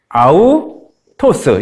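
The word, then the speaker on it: αὐτός: 요거는 거꾸로 되면 히읗이고 거꾸로 되지 않고 그냥 이 작은 따옴표 같으면 그냥 읽으시면 돼요. 우리말 이응처럼 아우토스 이렇게 되거든요. 아우토스 요게 뭔가 붙어 있으면 좀 거기를 세게 높게 읽는다.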